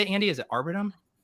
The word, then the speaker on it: Arbitrum: Is it Arbitrum? Arbitrum.